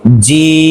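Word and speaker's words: ج: হরফটির নাম হলো কি জিম এই হরফটি চার আলিফ টান দিতে হবে জিম জিহ্বার মধ্যখান তার বরাবর উপরে তালের সঙ্গে লাগাইয়া শক্ত কইরা হ্যাঁ জিম আবার বলছি জিম কোনটা কত আলিফটা নিয়ে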